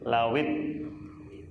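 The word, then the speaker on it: لَوِ: oleh Allah, lau seandainya, tapi karena ketemu sukun jadi bacanya lawit. Karena sukunnya dua, wawunya sukun, alifnya sukun. Kalau dalam kaidah bahasa Arab, kalau ada dua sukun, ya, maka sukun yang pertama dikasroh littilawah untuk bacaan. Lau seandainya ittola'ta, kamu ittola'ta, tola'a itu apa?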